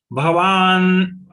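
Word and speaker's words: भवान्: Bhavan, here again Va to be pronounced long, then only Na to be pulled.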